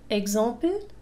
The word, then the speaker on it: exemple: X تنطق مثل Gz. Exemple.